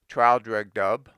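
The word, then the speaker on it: Traldragdubh: It contained a warrant for conducting me and my retinue to Traldregdub, or Trildrugdrib, for it is pronounced both ways as near as I can remember, by a party of 10 horse.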